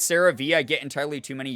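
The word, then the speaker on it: CeraVe: I think it's pronounced like Sarah V.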